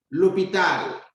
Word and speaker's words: l'hôpital: L'hôpital, the hospital. You can see we have a silent H that begins the word.